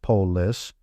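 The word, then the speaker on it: polis: God's use city states a citystate or polus pronounced pois was like a small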